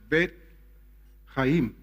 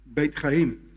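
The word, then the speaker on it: בית חיים: Lifehouse in Hebrew is, you say it like this, Bet Chaim. Beit Chaim.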